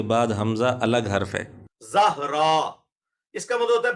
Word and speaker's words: زہرا: بڑے آسان ہے، اور یہ وہی نام ہے جس کو کسی زمانے میں لوگ زورا بولتے ہوتے تھے، وہ زورا لفظ غلط ہے، یہ لفظ ہے زہرا، ZAHRA، یہ رکھ۔ انجینئر